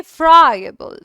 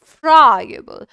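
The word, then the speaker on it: friable: हाँ जी, 18वां वर्ड हमारे सामने आ चुका है, देखेंगे इसे कैसे प्रोनाउंस करेंगे। फ्राइबल। फ्राइबल।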